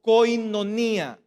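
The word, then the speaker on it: κοινωνία: y la palabra comunión viene de una palabra que en el griego se pronuncia como coinonía coinonía y Qué es koinonía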